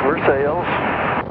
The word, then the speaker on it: Versailles: And no, it's not pronounced Versailles. Pronounced for sales.